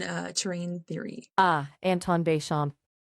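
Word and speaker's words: Béchamp: Ah, Anton Bashamp, it's pronounced roughly B Shampo.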